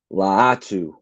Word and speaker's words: Latu: correction from Shard Dizzle he said it's latu I appreciate that latu